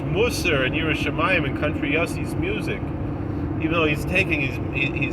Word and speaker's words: Yossi: play for me Country Yossi. Something she pronounced like Yahtzee. Kind of play for me Country Yahtzee, and we listen, and